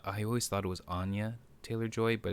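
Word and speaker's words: Anya Taylor-Joy: it's not i i always thought it was anya taylor joy but it's anya taylor joy um yeah she yeah she's gorgeous by the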